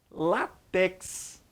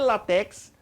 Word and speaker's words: látex: Você já deve ter ouvido falar, talvez você fale látex, não tem problema. Na hora da prova, é látex. Paroxítona terminada em X. Tá certo? Látex, a pronúncia é essa.